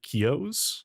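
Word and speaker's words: Kiyo: In fact, uh this webcam is one of the original Razer Kios. I think Kio is how you say it. uh K I Yo.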